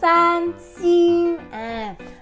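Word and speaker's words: 三星: คะ ให้ เรา พูด ว่า สร้าง ซิง ชี ซาน ซิง หรือ อาจ จะ เป็น อีก ยี่ห้อ นึง ที่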